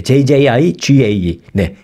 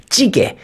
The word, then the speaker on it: 찌개: 그다음에 J jji gaae jji g 좀 한번 발음해 보세요 jjigae네 찌개 이것도 올라갔습니다 한국말 그대로 하라는 것이죠 이걸 뭐